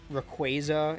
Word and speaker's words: Rayquaza: they're puns so like rayquaza it's like quasar i heard somebody on